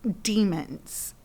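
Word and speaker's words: daemon: their uh Animal Companions are called demons and it's spelled D A E Yeah d a e m o n like Damons right that's well you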